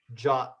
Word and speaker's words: JWT: stroke or anything uh that is how that's pronounced it's not or anything like that or JWT it's pronounced jot um I don't know